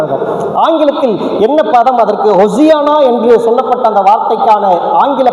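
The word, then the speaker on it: הוֹשַׁעְנָא: இதனுடைய உண்மை பொருளை நம்ம பிரித்து பார்த்தோம் என்றால் சொன்னால் அதனை உச்சரிப்பே நம்மனா ஓசன்னான்னு நம்ம தப்பாக சொல்கிறோம். ஆனால் உண்மையான அதனுடைய ப்ரொனன்சியேஷன் எப்படி எபிரேய மொழியில் இருக்கிறது என்று பார்த்தால் ஹொசியனா. ஹொசியனா என்கின்ற வார்த்தையை அவர்கள் பயன்படுத்தி இருக்கிறார்கள்.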